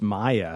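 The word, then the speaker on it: Maia: catches mac's eye and her name is it's maya maya that's right which is that really a japanese name it's spelled m-a-i-a like i know my is a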